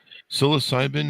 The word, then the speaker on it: psilocybin: So, uh you guys do expert expertly guided luxury psilocybin. Is that how you pronounce that?